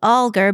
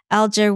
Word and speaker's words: Alger: group in Utah um calls it alar but NE there's um David Golding has done some research and he says that Alger was the way that they pronounced it back then so really you can say either one and be pretty correct okay well good to